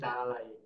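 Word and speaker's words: تعالي: Iya, tapi bacanya bukan taali, tapi taala. Oh, oke oke oke. Jadi pembetulan taai jadi taalai taayi. Oke. Kalau kita mengatakan mari mari untuk perempuan itu bacanya apa? Taalai.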